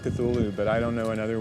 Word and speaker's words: Cthulhu: And so finally, in a letter of 1934, he tells a colleague, well, it's really meant to be 2 syllables. You're supposed to put your tongue at the roof of your mouth and cough it out like Cthulhu.